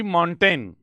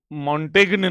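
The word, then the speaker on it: Montaigne: अब ध्यान दें कि माइकल डी मॉन्टेन, मॉन्टेग्न नहीं है, जी साइलेंट है, माइकल द मॉन्टेन जो है, इज वाइडली कॉल्ड, उसे पुकारा जाता है द फादर ऑफ ऐसे।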